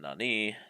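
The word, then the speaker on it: 何: Word for what has 2 pronunciations, nan and nani. Nan is used before des and or before counters. Nani is used before the particle.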